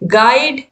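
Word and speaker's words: guide: तो बिल्ड, बिल्ड, गिल्ट, गाइड, गेस, इन सभी में जो यू है वो क्या है? साइलेंट है।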